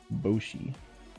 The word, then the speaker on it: Boshi: because that's my name boshi like yoshi but with a b is that how you